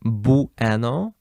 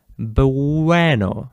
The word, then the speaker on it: bueno: You don't say bueno, you don't pronounce every single letter here separately. You don't say that. You say bueno, bueno, okay? So, ue changes to w.